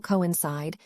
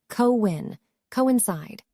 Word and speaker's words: coincide: The stress is on that third syllable coincide, and just keep in mind the coin, it's not pronounced as coin. 2 different syllables, co-win, coincide, to coincide with something.